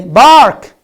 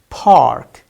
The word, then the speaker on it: park: bark no nasa uber if you say bark which is not correct it's park park park park check all of you it's not bark so it's not bark it's park okay next i think